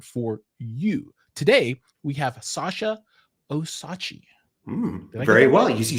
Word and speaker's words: Sasha Osachi: Today, we have Sasha Osachi. Very well. You said it beautifully. Yes. Right no, I love it. Thank you. With a silent D. The D is very much silent.